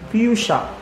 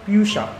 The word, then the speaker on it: fuchsia: Pronunciation, fuchsia. Spell the word fuchsia.